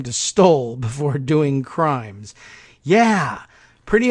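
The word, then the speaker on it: Stolle: Beach Commonwealth's Attorney Collins stole that's his name his actual names sto lle spelled like trump would if he were being asked to spell the word stole but Collins stole recused himself stoles brother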